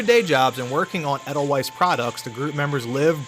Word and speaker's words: Edelweiss: Now, according to the Ether Vapor website about the developers, Doujin developer group Edelweiss, I believe that's how it's pronounced, Edelweiss, but they've been active